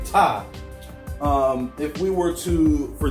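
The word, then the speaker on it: Ptah: deity ty p tah the P is silent and so I didn't say this but Ty's pronounced time all right now we can see that there and tie is the Egyptian creator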